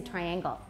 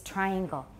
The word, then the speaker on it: triangle: almost a hundred percent in taiwan english people say triangle it's coming from somewhere so please know it's triangle triangle triangle triangular triangle yeah and then it has